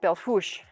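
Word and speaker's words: Belle Fourche: head on back to what is spelled belt for shea but apparently pronounced belfous but i don't know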